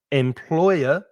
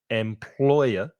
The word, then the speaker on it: employer: Employer, 3 syllables, the stress is in the middle, employer.